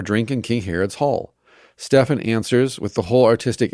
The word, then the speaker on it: Stephen: told the story of Stefan the martyr or Stephen if you'd want to mispronounce it careful historians of that